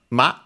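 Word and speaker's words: 間: And ma is also unaccented, luckily.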